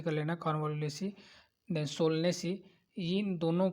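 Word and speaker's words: Convolvulaceae: Family दे रखा है, कानवा उलेसी, थोड़ा सा प्रोनाउंस आप सही से कर लेना, कानवालुलेसी, देन सोलनेसी।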